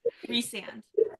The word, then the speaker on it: Rhysand: Rhysand. Rhysand? Rhysand. Yeah. Rhysand. That's it's a Welsh name, and that is the Welsh pronunciation, so it's the only correct one in my opinion.